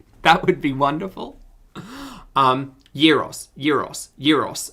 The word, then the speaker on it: gyros: um euros euros euros okay it is euros right it's not gyros because gyros makes me think gyroscopic i pronounce it like euros oh okay gyro or euro euro gyro zero yeah the g is a y it's my birthday